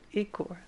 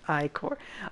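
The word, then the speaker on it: ichor: fill it with magical Ecore that's pronounced iCore oh they got me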